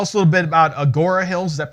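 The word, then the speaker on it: Agoura Hills: Tell us a little bit about Agora Hills. Is that pronounced correctly?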